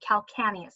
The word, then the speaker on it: calcaneus: with heel, but really the name of the bone itself is the calcaneus or calcaneus. However you want to say it, that's fine with me.